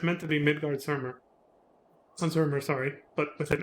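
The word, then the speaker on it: Midgardsormr: Midgard-Zormr. Yeah, but again, the Z sound I think is how you say it, because I think that's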